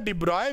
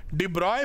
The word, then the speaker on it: de Broglie: डिब्रॉय wave क्या होती है, लिखते डिबॉर्गली हैं, पढ़ते डिब्रॉय हैं।